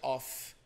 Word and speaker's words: off: A diferença na pronúncia é que aquele que tem dois Fs, o som sai off. Uhum. Então, por exemplo, turn off the lights. Sim. Então, o som é de F.